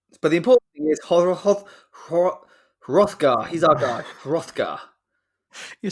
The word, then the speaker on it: Hrothgar: went to pronounce the H at the beginning of his name, but I realised we're just going to treat that like silent, aren't we?